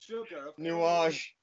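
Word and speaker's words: Nuages: Nuage.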